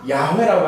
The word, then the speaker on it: 야훼: 그래서 요게 윕, 해, 와, 해를 묶어서 야훼라고 하는 발음이 나옵니다.